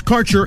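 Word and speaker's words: Kaercher: Quality cannabis Insurance Services is spelled k a e r c h r that's Cure Insurance we have worked with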